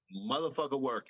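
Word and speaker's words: Muthaphuckawerk: Motherfucker Work. It's spelled unlike it sounds.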